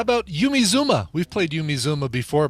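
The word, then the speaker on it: Yumi Zouma: zuma and not pronounced yummy by the way not pronounced yummy oh no it's yumi zuma got it okay clarification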